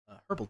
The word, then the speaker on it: herb: The H is silent.